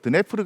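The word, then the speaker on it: Дніпро: 예전에는 그 러시아어식 발음으로 드네프르 강이라고 했었는데 지금은 우크라이나어를 존중한다는 의미에서 드니프로 강이라고 하죠.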